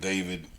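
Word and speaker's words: D4vd: Have you heard anything about this the singer David with the dead girl in his trunk and all that good How do you say this nigga's name?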